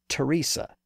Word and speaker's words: Teresa: The same thing happened with names like Thomas, T-H-O-M-A-S, and Teresa, T-H-E-R-E-S-A, and Esther, E-S-T-H-E-R. Those names were used in Greek and followed the same general path as a word like time. Their pronunciations changed within Latin and then remained that way in English.